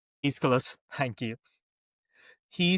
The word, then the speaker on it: Aeschylus: Dan, got to help me with his pronunciation. Aeschylus, thank you.